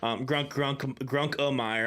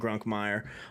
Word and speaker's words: Grunkmeyer: Grunk-O-Meyer. I'm not saying that. I'm saying Grunkmeyer. I'm not throwing an extra syllable in there.